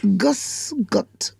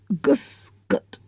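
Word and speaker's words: Grüß Gott: but anyhow the hello there is is G gusot is pronounced g r u b the B is funny the B's got an S and G o t t and it's Gus gut Gus gut that's how it's pronounced and the me the original meaning of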